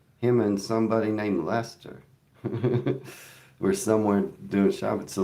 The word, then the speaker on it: Leicester: Someone said it was Yeah, somebody said it was Worse Worcester, but it was Lester. It was Lester, and that's how you say it.